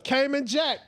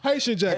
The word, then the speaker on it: Haitian Jack: I go in a city that my stuff with Cayman Jack is going. Is that I say his name right? No. Haitian Jack. I'm sorry. I said I'm thinking of the boxer.